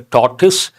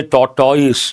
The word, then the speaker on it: tortoise: One is a tortoise. People mispronounce, they say tortoise, no, tortoise.